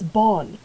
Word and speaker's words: bon: laissez like laissez-faire laissez the second word is Bon like bon voyage which translates to good trips so it's born and then we have ton the two run Bon Tom which is good